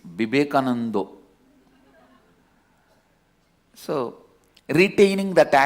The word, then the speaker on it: Vivekananda: different yet kind of because in bengal all the ah will become o in bengali it is never a vivekananda it is vibekanando so retaining that accent